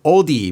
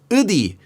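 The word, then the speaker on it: 어디: One feature of this dialect is pronouncing the vowel sounds e and o instead more like uh and this happens especially with the diphthong ui which often becomes pronounced as just uh.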